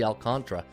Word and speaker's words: Alcantara: alcantra it's you know it looks like Alcantara but you listen to a broadcast they say oh Sandy alcantra all right I'll have